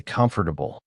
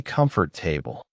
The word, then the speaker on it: comfortable: I remember spending three days just learning how to say comfortable because I used to say comfort table.